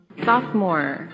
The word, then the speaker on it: sophomore: Sophomore. I did not know it was spelled like that, actually. Yeah. I didn't know there was another O in the middle. But it's pronounced just sophomore.